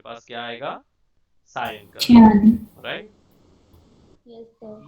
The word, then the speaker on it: cyan: ये क्यान टर्म कहाँ से आया था मुझे नहीं पता, राइट। बट ये प्रोनाउंसिएशन जो क्यान कलर का प्रोनाउंसिएशन है is a bit different. Anyway, so I call it cyan, right?